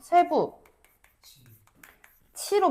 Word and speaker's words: 쇠붙이: 그래서 쇠부 치로 발음이 되는 거지. 선생님, 티귿이 티귿 아니야, 티읕이야? 티읕이 이 몸을 만나서 치읕이 되는군요.